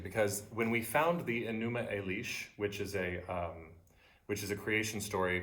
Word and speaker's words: Enuma Elish: Can you spell that word what you just said? Numo Elish. Enuma Elish, yeah.